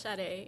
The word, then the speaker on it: Sade: yeah okay well um my name is shade and I say that because like I told you people pronounce my name wrong all the time okay um I'm from